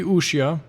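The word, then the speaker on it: Wuxia: series for ushia world i say ushia but it's spelled with a w w u x i a world i know my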